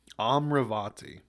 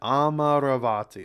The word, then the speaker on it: Amaravati: think is the city amravati yes so let's figure out why uh amravati failed sustainable City sustainable City huh capital city of amarati amaravati okaya they pronounce it differently okay amravati amravati the myal